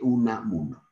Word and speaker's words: Unamuno: Miguel de Unamuno, ¿ya? Traten de pronunciar bien Unamuno para que vayan familiarizándose.